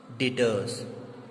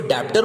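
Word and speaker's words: debtors: एक बच्चे आप लोग ये चीज और ध्यान रखिएगा कि इसमें ये जो बी है ये साइलेंट होता है, तो ये होता है डेटर्स, ओके। इसको डेप्टर मत बोलिएगा, ठीक है, इसे बोलेंगे हम लोग डेटर्स।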